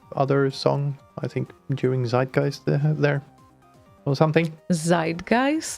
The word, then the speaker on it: zeitgeist: tell you as well it's site-geist design guys yes well we're speaking English so we would say is zeitgeist because that is how you pronounce the word in English no way yes way